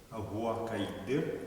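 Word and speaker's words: оһуокайдыр: Как вы видите в тексте, есть спаренные звуки, это дифтонги. Конкретно здесь это О и Е. Да? Они не произносятся раздельно, как УО, они произносятся слитно, да?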